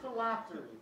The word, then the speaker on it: phylactery: Miss Park, your word is phylactery. Phylactery, am I pronouncing that correctly?